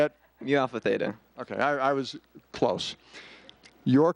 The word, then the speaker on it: Mu Alpha Theta: Mu Alpha Theta.